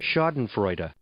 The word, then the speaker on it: Schadenfreude: Schadenfreude. Schadenfreude. So, you said Schadenfreude, very close, right? Yeah, I got the the A off a little bit, and I didn't get the separate syllable on the last E.